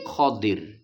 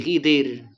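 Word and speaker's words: خضر: Dalam referensi Arab itu adalah Nabi Khir. K fathah dod kasrh. Khir ngoten. Jadi di dalam referensi Arab pembacanya qodir bukan Nabi Khidir.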